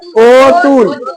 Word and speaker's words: অতুল: অতুল নয়, ও তুল। এখানে রস্যৌকার আছে, এই যে রস্যতে রস্যৌকার, ও তুল।